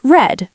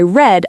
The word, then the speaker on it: read: Read becomes read, but the pronunciation changes. I read a book.